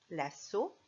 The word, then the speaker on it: lasso: Quand il y a 2 S, on n'a pas besoin de regarder à côté, à droite et à gauche. Ça fera de toute façon S. 2 S font toujours S.